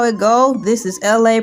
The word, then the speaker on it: ELA: This is LA, pronounced like LA, like the city.